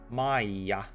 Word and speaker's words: Maija: Maija, not Maya. She's not a hut.